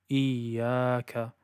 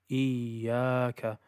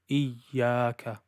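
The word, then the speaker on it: إِيَّاكَ: Rather, it should be a continuous, smooth sound. So for example, iyaka, iyaka. And cutting it sometimes sounds like this, iyaka, iyaka.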